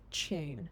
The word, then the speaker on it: tune: First one, tune can be pronounced as June.